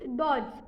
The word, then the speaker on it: dodge: और fourth word is डॉज, DODGE। इसमें डॉज पहला डी होता है, उसका उच्चारण होता है DO डॉ, बट उसके बाद फिर से DODGE। इस वर्ड में डी, दूसरा जो डी आता है उसका हम उच्चारण नहीं करते।